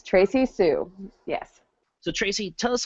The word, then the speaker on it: Tracee Sioux: What I was saying at the end of the episode, it's Tracy Sue. How I missed that. I don't know. It's Tracy Sue.